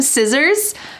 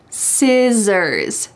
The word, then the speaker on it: scissors: Can you pass me some scissors? Notice that the C is silent. Scissors.